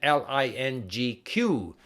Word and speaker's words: LingQ: language you're learning except it's written l-i-n-g-q so some people pronounce it Ling Q all right perfect perfect